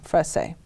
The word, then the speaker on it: Fresé: Mencioné eso porque parece ser que es una pregunta muy, muy común que recibo en el pueblo y es cómo pronunciar mi apellido, Frese.